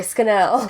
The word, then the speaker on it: Scannell: right in school sorry Scannell no yeah it's like the in Ireland they pronounced it scan all which is so disgusting